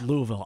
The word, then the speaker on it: Louisville: As they say, Louisville. Right. You got to Louisville. mush it together. It's Louisville. For the locals, it's Louisville.